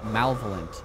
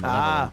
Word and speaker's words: malevolent: Malvolent, I used to say, instead of malevolent.